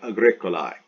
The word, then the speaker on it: agricolae: Agricola, agricolae, agricolae, agricolam, agricola, agricolae, AE pronounced I, agricolae.